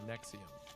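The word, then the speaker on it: Nxivm: podcast called Allison After Nexium. Although you would never guess Nexium's pronounced that way if you look at it.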